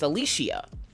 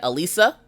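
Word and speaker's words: Alishia: say it correctly so my first name is Alicia Alicia it is spelled a-l-i-s-h-i-a I get Elisa Alicia Alicia Lisa I've gotten Lisa quite a few times Lisha which is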